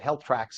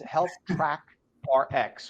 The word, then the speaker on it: HealthTrackRx: HealthTrackRx, which I know on the quick you pronounce it HealthTracks as well. Yeah, Thank you it's for joining easy. us this morning. Yeah, really, that's a good way to remember, but it's HealthTrackRx, right?